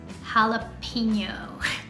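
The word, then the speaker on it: jalapeño: mispronounce in Spanish is jalapeno how Rosemary why is this word mispronounced because you're pronouncing the letter E in English e in Spanish it's pronounced a always every time in every single word it doesn't matter if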